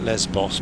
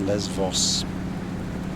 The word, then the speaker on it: Lesbos: We call it Lesbos, but it's pronounced Levos.